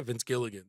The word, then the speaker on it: Vince Gilligan: Vince Gilligan, is that how you say it? The guy who did Breaking Bad? Yeah, yeah, yeah, Vince Gilligan.